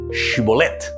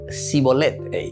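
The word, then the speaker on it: שיבולת: Entonces son episodios así muy interesantes, porque o pronuncia acá y yo pero pronuncia a mí dice shibolet, a la otra sibolet, sibolet, no, vaya shibolet. Entonces la shim y la sin, ¿entiendes?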